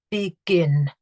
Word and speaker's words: begin: Begin. I've got two syllables, and the stress is on the final syllable.